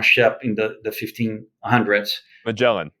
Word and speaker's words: Magellan: in the the 1500s magellan yeah magellan yeah that's how you pronounce it in english yeah so back then